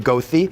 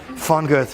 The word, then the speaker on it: Goethe: who's a german writer don't pronounce his name gothi people will think you're really poorly educated how do you say goethe properly we have someone from germany who's correct their pronunciation it wasn't that bad at least i didn't say gothi she was that bad fongote okay she disagrees okay